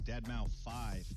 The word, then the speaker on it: deadmau5: is your good friend joel professionally known as deadmau5 yes that is the correct way to pronounce it tell your friends we're here to talk to you yeah you'll always be known as dead mouse game development to the match is going to